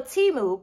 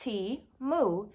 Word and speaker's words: Temu: hand wash only so Teemu pronounced tea moo is the number one